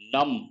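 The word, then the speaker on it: numb: Num, the letter B is silent.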